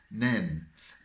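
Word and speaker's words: Nene: If you're interested, the Northampton side won, so this year it's pronounced Nen.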